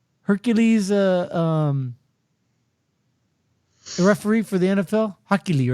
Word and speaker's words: Hochul: But this week, New York Governor Kelly Hochul, who's that? The Hercules referee for the NFL, Hochuli, right? Hochuli, yeah. So it's like Hochuli, but without the E at the end.